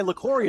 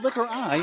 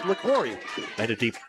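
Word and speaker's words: Liquori: Laura, liquor with an I. LaCory it's pronounced. It's not liquor I, it's LaCory.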